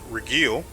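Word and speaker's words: Regill: what is his name regiel which is apparently the proper way to pronounce his name is actually not supposed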